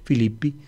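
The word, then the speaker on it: Philippi: sujeto es en y filipo se escribe filipo y se pronuncia filipi el nombre de la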